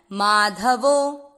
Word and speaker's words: माधवो: चौथा चरण माध, ध में अ मिक्स करना है, माधवो।